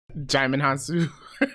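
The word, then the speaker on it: Djimon Hounsou: up in um I don't know how to pronounce this guy's name Digimon Han Solo him jamond hansu yes all right for anybody who doesn't know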